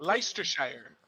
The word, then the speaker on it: Leicestershire: Police, Leicestershire. is that how it's pronounced? Sure. It's like Worcestershire.